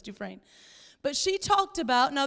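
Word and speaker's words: Dufresne: is Nancy dues duin it's spelled du fresy but it's du frin but she talked about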